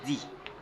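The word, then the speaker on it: the: devant le voyer ici d si se place avant les vOYEL il se prononce dit d c'est prononce dit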